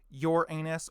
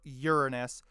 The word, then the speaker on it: Uranus: Might get roasted for being the oddball planet containing the word anus in it depending on the two valid pronunciations, your anus or Uranus, both of which sound like a practicologist wet dream.